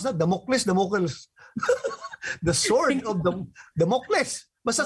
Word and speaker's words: Damocles: How do you pronounce that? Damocles.